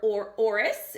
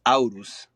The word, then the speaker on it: Aurus: Aurus, is that right? It's Aurus, but close, close.